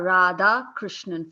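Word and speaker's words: Radhakrishnan: It's Radha Krishnan, 4 syllables, but people call me Rad.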